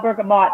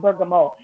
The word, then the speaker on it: bergamot: it's that it sells bergamot that it's pronounced burger mold ber GA MOT oh and if you're